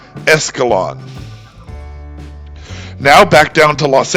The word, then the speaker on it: Escalon: In any case, the name is pronounced as if it were an English word, with no hint of any Spanish influence. It's just Escalon.